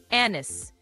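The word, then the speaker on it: anise: ثلاث مرات بالنطق الامريكي بطريقتين انس انس الاثنين صح ومستخدمين لكن بعض الناس برده بينطقوها انيس انيس انيس والاثنين صحيحين ومقبولين. النطق الاكثر شيوعا في امريكا هو انس لكن انيس برضو مقبول ومعروف.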